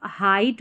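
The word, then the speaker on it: height: अगर इसको हम पढ़ेंगे तो हेट पढ़ेंगे। अगर इ आई जी एच की अभी मैंने ध्वनि बताई है साउंड कि ई आई जी एच को ए पढ़ते हैं। नहीं इसको आपको हाइट पढ़ना है। यहां ए नहीं आई पढ़ा जाता है। ई आई जी एच क्या पढ़ा जाता है? आई आई पढ़ा जाता है। ठीक है? यह याद रखना है। इसको हाइट पढ़ेंगे।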